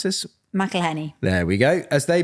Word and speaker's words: McElhenney: It's a docuseries that follows the real-life journey of Hollywood actors Ryan Reynolds and Rob, how do you pronounce this? McElhenney.